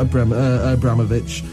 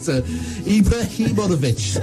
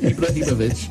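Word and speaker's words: Ibrahimović: I know they've got Abramovich, but But Sweden, Roman I can't pronounce it. Ibrahimovic, I do apologize. Ibrahimovic.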